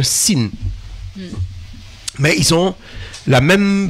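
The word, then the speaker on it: שׂ: Et si le point est placé sur la gauche, ça se prononce se. Alors, à ce moment-là, c'est un sin.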